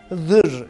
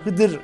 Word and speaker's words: Hızır: aktarıldığında Z diye yazılır Halbuki okunuş şekli Hızır diye okunur Dolayısıyla bu telefondan kaynaklanan bir durumdur onun Hızır Ya da Hıdır diye söylenmesin de bir sakınca yoktur geminna ya geldim Erenler